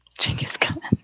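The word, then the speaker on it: Genghis Khan: have a i have a strong draw towards chingus khan yeah jing is coming yeah this is how you pronounce it something i learned here's my answer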